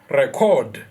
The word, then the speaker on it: record: verb, can you please record your work? Record. So in record your work, because it is a verb, our stress is going to be in our second syllable, the last syllable.